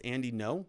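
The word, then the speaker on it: Andy Ngo: So update from Andy, NGO. Andy, no. I like to say NGO. I like to say Andy, NGO. I know it's Andy, no.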